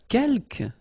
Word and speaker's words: quelques: Quelques, you don't pronounce the final S here.